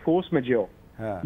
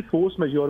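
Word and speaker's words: force majeure: अब फ्रेंच है, मुझे फ्रेंच आती नहीं, इसको प्रोनाउंस कैसे करते हैं, इसको कहते हैं फोर्स मेजोर।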